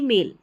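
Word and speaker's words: male: अगर हम बात करें एम ए आई एल मेल की यानी कि जो हम मेल करते हैं ईमेल करते हैं वो वाला मेल हो गया। और एक एम ए एल ई मेल इसका मतलब पुरुष जैसे फी फीमेल मेल फीमेल ऐसा।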